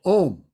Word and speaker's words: om: the the deity so om is three syllables um sometimes you'll see it's spelled a-u-m ah um so to me so